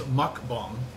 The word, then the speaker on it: mukbang: I think it is mukbang, because a lot of Koreans make sure that I say it right.